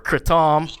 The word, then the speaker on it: kratom: It's taught me a lot about kratom, or kratom. That's what we call it around here. There's different people pronounce it different.